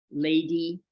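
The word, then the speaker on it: Ledi: So the Mahasi school, this was first of all started by Mahasi's teacher, Lady Sayadaw. So lady is spelled L-E-D-I.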